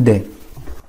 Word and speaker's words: des: لو لا les, un, une ou des. الدي اخواني شوفوا كيف الدي ما بنقرا حرف الاس، الاو والاس يقرأوا اي، او اس لي او اس دي.